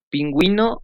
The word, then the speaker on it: pingüino: La U debe ser pronunciada en sílabas. Cue, wi. Ejemplo, pingüino, ungüento. La raya.